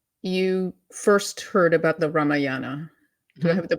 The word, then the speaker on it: Ramayana: Yeah, Uh, some say Ramayana, some say Ramayana. I said Ramayana for a long time, and then mhm. someone corrected me, like, "No, it's Ramayana. Ramayana." It's Okay. it's regional.